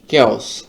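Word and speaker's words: chaos: কেস অর্থাৎ বিশৃঙ্খলা কেস এখানে কিন্তু চিস শুরুতে থাকলে সাধারণত কর উচ্চারণ হয় না এখানে অধিকাংশ ক্ষেত্রেই চ এর উচ্চারণ হয় যেমন চেস্ট চিস চেস্ট তো আমাদের এখানে দেখা যাচ্ছে যে উচ্চারণটা একটু ব্যতিক্রম এখানে কর মত হয়েছে কেউস তারপরের শব্দটি হচ্ছে রন্ধে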